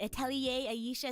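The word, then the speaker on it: Atelier Ayesha: she's been playing Atelier is it Atelier Aisha is that how you say it yeah yeah yeah yeah yeah that's it that's it you've also been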